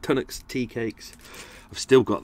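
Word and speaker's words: Tunnock's: uh bacon tart and some uh tonics cs pronounced it right tunax tea cakes i've still got them i haven't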